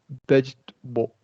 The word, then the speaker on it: vegetable: middle syllable, right? Yeah. Personal. Yeah. Memory. Vegetable.